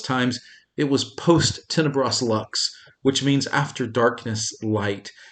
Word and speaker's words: Lux: it should be pronounced luke's but we're americans so we say lux and that's the purpose